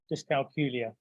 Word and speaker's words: dyscalculia: saying the word so I have a little trick that rhymes with Julia dyscalculia so that's just a